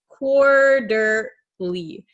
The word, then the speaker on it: quarterly: So quarterly quarterly, this T is going to become a flap T. So it sounds like an English um soft D sound.